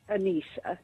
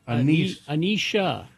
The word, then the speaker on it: Anissa: It's actually pronounced Anissa. Anisha. Okay. Anisha, is that correct? It doesn't have an H. I know it sounds that way over the phone.